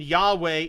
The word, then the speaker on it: Yahweh: ok one more paragraph the generally acknowledged vocalization Yahweh is a reconstruction that draws on several lines of evidence the longer of the two reduced suffix inks forms of the Divine Name yah and yahoo indicates that the name probably had the phonetic shape yaa hope with a final vowel the vowel is supplied